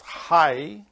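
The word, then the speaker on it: חי: Bob together United made letterhead which you pronounce hi which is life in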